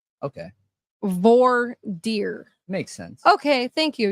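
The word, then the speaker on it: voir dire: fancy name when they do the Jone said V deer okay VOR deer makes sense okay thank you yeah so when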